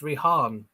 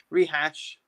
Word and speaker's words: Rihan: Jamie Powell, please say my name right. It's Rihan. Oh, Rihan. What did I call him? Rihan. Rehash.